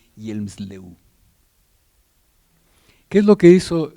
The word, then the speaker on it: Hjelmslev: Allí ven, se escribe así, pero se dice Hjelmslev.